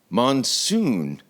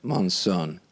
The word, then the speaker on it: Monson: uh my guest today killian monsoon monson i know i said it right the first time i want to say